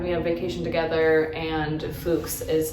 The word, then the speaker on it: Fuks: He runs into an acquaintance of his name is Fugs. I think that's how you pronounce it. Fuks. Fuks. F U KS. Okay. Fuks. So he runs into a gentleman that he knows named Fuks.